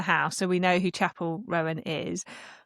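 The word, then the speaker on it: Chappell Roan: so we know who Chapel Rowan is. My partner keeps calling her Chappelle Rowan. deliberately or because he doesn't know pronouncing it and I'm like you're making her name fancier than it is.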